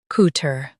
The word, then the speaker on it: couture: In US, stress tur. In UK, stress ture. COUTURE, couture.